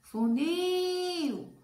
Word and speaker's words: funil: Aí eu chamo funil. Ó, funil. Demorei no nil. Então, a última sílaba mais forte, ela é uma palavra oxítona.